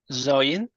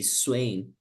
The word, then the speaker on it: swaying: How do you pronounce this? Zoin. Say again. Zoin. Okay. So this verb will be pronounced sway. So you say swaying. Swain. Swaying. Okay. Swaying. Yeah, when you say fast, it's swaying.